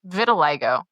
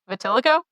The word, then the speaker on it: vitiligo: It's vitiligo, but I had only ever read it and I said it out loud one time in class. It wasn't even like to the group. It was just to a person and someone overheard and was just giving me endless for it. How' you pronounce it? Vatilico.